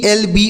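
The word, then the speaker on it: elbow: है बांह या भुजा नेक्स्ट वर्ड है ई एल बी ओ डब्लू तो इसे क्या पढ़ेंगे इसे पढ़ेंगे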